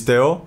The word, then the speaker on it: Teo: I am Theo, or you can call it like the proper pronunciation is Theo, like Theo Ice, Theo which Ice, is quite yes.